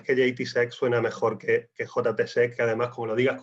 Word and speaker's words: JTSEC: En JTSEC o JTSEC, nosotros lo pronunciamos en inglés porque bueno, pues tenemos un fuerte componente internacional.